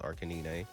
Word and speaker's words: Arcanine: I know how to actually say it, but hey, listen, if you know ball, you know it's pronounced Arcanine.